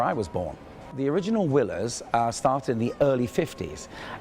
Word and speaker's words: Willers: So W-I-L-L-E-R-S. For a Frenchman is wheelers. For us, it's willers.